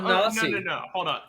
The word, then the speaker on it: Genasi: but you it's sound Ganassi. no. Hold on. It's a hard G. So No, why are you it's- pronouncing it's- it J? It's Genasi because it's based on genies, which is a J sound.